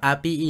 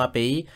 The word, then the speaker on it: API: Estoy editando este video y les hablo para aclarar que se pronuncia OneCore API y no API.